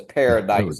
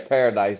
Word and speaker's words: Paradis: It says Paradise, go. Louisiana. Where's Paradise, Louisiana, at, Joe?